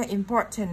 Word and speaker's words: important: Và do important nó đang có trọng âm thứ hai nên mình sẽ nhấn vào chữ poor, important.